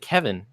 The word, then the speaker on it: Kevin: closely it was bad how do you pronounce my name I pronounce it Kevin and I'm not gonna